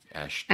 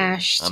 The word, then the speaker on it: Ashton: dad that's a different uh John Ashton sorry Ashton ason I'm sorry I'm sorry no no it's my